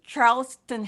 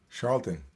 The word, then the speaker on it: Charlton: david was saying a charleston heston i had to look up charles charles what how do you say his name charlton oh i thought charleston no like like the dance no name okay i